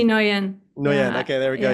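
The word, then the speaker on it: Nguyen: name many, many times, but how do you pronounce the name? C T Noian.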